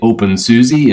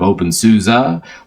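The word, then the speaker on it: openSUSE: deian you say devian you say open Suzie instead of open Souza there's the hey I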